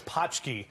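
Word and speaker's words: pączki: maybe by the way it's potchke that's how you pronounce it it's a Polish thing I've never had one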